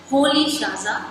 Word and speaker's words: Rolihlahla: So therefore the pronunciation and it's written in the English alphabet, so there is a bit difference. So the pronunciation is different what is written here. So his full name pronunciation is Nelson Holy Shaza Mandela.